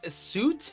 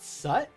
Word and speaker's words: suit: All you guys, it's suit, not sut.